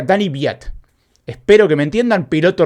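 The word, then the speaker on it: Daniil Kvyat: que es Dani viat se escribe danil Kat y lo gul 200 veces y se pronuncia Dani biat esper que me entiendan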